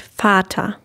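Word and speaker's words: Vater: so let's start with the word fata fata and the singular has a long a sound and in the plural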